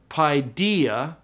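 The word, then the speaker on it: παιδία: third line is pronounced starts with the word pidea okay Alpha Yoda is a d thong so you keep it together pidea and then Asin Asin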